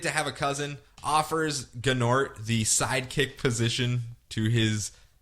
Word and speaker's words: Gnort: But everyone keeps pronouncing his name Gnat. And he's like, it's Gnort, not Gnat. Anyway, moving on.